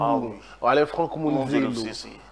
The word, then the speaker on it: Monzelo-Cessé: Mon nom, ça se prononce pas seulement par Alain, il faut aller jusqu'au bout. Ah, oui. Alain Franck Monzelo-Cessé. Monzelo.